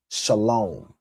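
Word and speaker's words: שלום: He did the same thing with the word shalom, meaning peace. He added that W in there, and that's why he says shalom, right?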